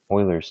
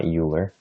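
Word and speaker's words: Euler: okay e being uh Oilers number okay and just as a side note this is pronounced Oiler okay not uler so we have log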